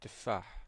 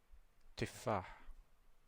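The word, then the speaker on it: تفاح: We have ta, and it is pronounced as te, as in tufah, apple. Repeat after me. Te, tufah, tufah.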